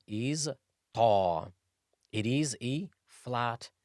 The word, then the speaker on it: ط: Ta is pronounced when the top part of the tip of the tongue, when it hits the roots of the upper incisors. Ta, ta, ta. Ta is also a heavy letter as well, with the emphasis on the tongue, as if you're saying toilet, tall. The tongue should stay flat as you pronounce ta.